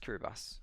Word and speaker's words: Kiribati: Here we got Kiribati. See, it says TI at the end. It's actually pronounced Kiribati. And somehow I forgot it anyway.